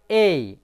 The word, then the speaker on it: A: বন্ধুরা আমরা সাধারণত পড়ে থাকি এই লেটারটিকে এ, কিন্তু অ্যালফাবেটভাবে এ এর উচ্চারণ হয় এই, এ হস্যই এই।